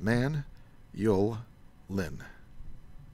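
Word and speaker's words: Manyullyn: man Yulin manually manually so many different ways people pronounce that but I'm gonna go with man yo Lin because you can break it up in three chunks like that men Yulin this stuff's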